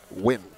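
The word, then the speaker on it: Nguyen: it's spelled ng u ye n but it's pronounced win yep I'm glad their coach clarified that for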